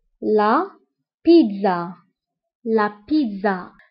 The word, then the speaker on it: pizza: البيتزا فهي la pizza. La pizza. La pizza. فانتبهوا بالنسبة لا بيتزا بالفرنسية فكنطقو لتر دي مع انه ما مكتوبش. دونك لا بيتزا. الوغ هنا كنطقو لتر دي.